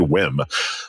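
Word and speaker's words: WiiM: $299 whim amp um whim is is capital W lowercase i i capital M there was some confusion as to how to pronounce that but I looked it up before we started recording so I didn't sound like an idiot and it is indeed whim uh but they've got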